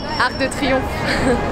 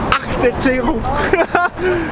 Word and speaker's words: Arc de Triomphe: Arc de Triomphe. Arc de Triomphe.